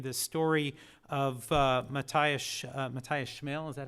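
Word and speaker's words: Matthias Schmale: The story of Matthias Schmel, is that how you pronounce his name?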